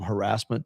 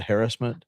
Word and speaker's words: harassment: years ago when it went from harassment to harassment that oh my gosh, you know, the just throw away all all rules of putting the wrong emphasis on the wrong salon.